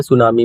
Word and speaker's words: tsunami: सुनामी, ठीक है। देखो टी जो है सुनामी में साइलेंट होता है।